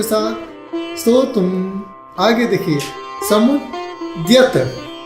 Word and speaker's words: समुद्यत: आगे देखिए, समुद्यत। समुद्यत नहीं, ध्यत पढ़ेंगे तो बिल्कुल गलत हो जाएगा। हमें बोलना है समुद्यत।